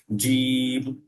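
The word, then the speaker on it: جيم: তো জিমের উচ্চারণটা কার মতো হয়? সাধারণত জয়ের মতো উচ্চারণ হয়, বাংলা যে বর্গ জ, এই জয়ের মতো উচ্চারণটা হবে। এবং এই জিমের উচ্চারণটা যখন করবেন, আপনি আপনার জিভ, জিভের যে একদম মাঝ যে অংশটা, সেটা তালুর সাথে লেগে একটা চাপ দিতে হবে।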